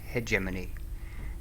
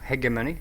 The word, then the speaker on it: Hegemony: It's actually pronounced Hegemony, yeah, in European English. In American English, it's pronounced Hegemony. So there's a slight difference there. I actually researched that. So, Hegemony it is.